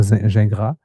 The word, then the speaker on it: Gingras: And Zachary Gingras, or Gingras, if he pronounces it in French, who got bronze in the men's 100 T38 here.